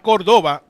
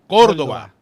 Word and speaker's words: Córdoba: Not Córdoba, Córdoba. Uh-huh. The accent goes on the first O.